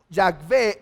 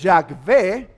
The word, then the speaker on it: Yahvé: Ahora, si creemos que la pronunciación de Jehová, la más correcta es Yahvé, nosotros lo leeríamos así.